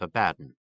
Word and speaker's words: Abaddon: an adequate suburb a word Outsiders were Forever mispronouncing by accenting the first syllable rhymes with Aladdin the natives routinely informed visitors emphasize the bad they added a strangely